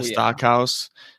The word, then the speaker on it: Stockhouse: Stockhouse, that's how you say it, right?